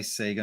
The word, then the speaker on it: Sega: And I think that was Sega and I do say Sega, not Sega, by the way. That's the way we pronounced it here at the time.